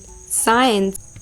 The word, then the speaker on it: science: You know C is often silent in the SC combination. Examples: SCISSORS, scissors, scent, muscle, crescent, fascinate, scene, disciple, ascent, descent, science, conscious, crescent, fasces, muscle, discipline.